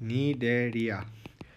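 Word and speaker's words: Cnidaria: ये है नीडेरिया। सी इसमें साइलेंट है तो नीडेरिया है इनका नाम है।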